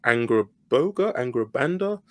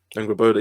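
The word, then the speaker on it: Angrboda: I think her name's pronounced Angrabanda. This is me not knowing my Angraboda.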